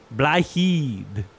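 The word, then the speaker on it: Blaidd: How do I pronounce it again? Blahid. Blythe, DJ apparently, which is Blahid.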